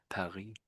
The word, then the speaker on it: Paris: So we pronounce the S on the end, but the French just don't say the S. It's silent, effectively. Paris is the French way.